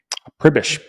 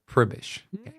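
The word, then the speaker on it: Pribish: pronounce your last name cribbish p-r-i-b-i-s-h is how you'd spell it phonetically cribbish like that new like that new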